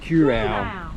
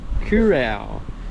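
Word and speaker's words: Kurow: at Corral Corral nobody seems to work out no how to pronounce this one Cura kurau but there's some dispute over the fact that curau may be a bastardization of the real name that's what I heard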